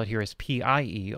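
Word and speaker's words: Pye: And the way they spell it here is P-I-E, although the original is P-Y-E, which was the original name of the company, Pi, that created it in the 1960s.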